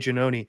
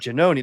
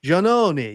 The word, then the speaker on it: Giannone: her face and she's, "Oh, Janoni, that's not how you say it, Janoni."